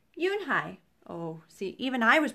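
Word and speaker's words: Unhei: new here what's your name a girl asked anhei said anhei the girl ass scrunching up her face some kids chanted no no and hey corrected it's spelled u-n-h-e-i it's pronounced yunhai oh see even i was pronouncing it wrong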